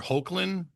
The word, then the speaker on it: Hoechlin: um, so Road to Perdition, also I believe Tyler Hoechlin is the proper pronunciation.